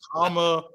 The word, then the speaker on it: Kamala: Like Kamala.